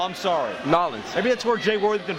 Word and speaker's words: New Orleans: That's pronounced Nolens, Louisiana. Oh, I'm sorry. Nolens.